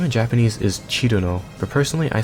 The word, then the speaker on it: Cirno: So if that's the case, her name would probably be pronounced something like Chillno in English.